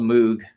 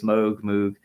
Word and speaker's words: Moog: done on the Moog, or it's spelled Moog. I've heard it pronounced both ways, Moog, but it's really Stevie